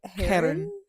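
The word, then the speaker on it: Chiron: We looked up a pronunciation thing of it because like it's an actual Greek name, and apparently the K is silent, so it's like Karen.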